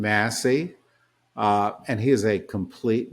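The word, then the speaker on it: Massie: Tensions escalated as Representative Thomas Macy, working with Democrats, advanced a bipartisan effort to compel document release, drawing sharp criticism from Johnson, who accused him of political sabotage. I think he pronounces his name Massey, and he is a complete nut job.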